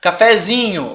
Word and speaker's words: cafezinho: Cafezinho, ó. Chama o cafezinho. Cafezinho, ó. Pra onde que foi essa sílaba tônica, gente? Veio pro Z.